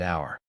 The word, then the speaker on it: hour: Note, hour starts with the consonant letter H, but the H is silent, so the word begins with the vowel sound hour. Therefore, we say an hour.